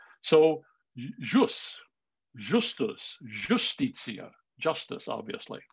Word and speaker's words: jus: i is often actually written with a little curl on it and pronounced the way we pronounce a j so jus justus justicia justice obviously